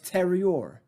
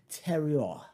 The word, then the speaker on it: terroir: I know the two R's are kind of fluid. And then the O-I-R, it's oi. Terroir.